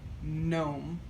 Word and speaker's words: gnome: with this g and the g is silent so we pronounce it gnome and then gnome with